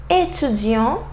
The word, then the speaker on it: étudiant: Final S examples: français, français, anglais, anglais, tapis, tapis. Final T, petit, petit, étudiant, étudiant, président, président. So final S and final T, I didn't pronounce them.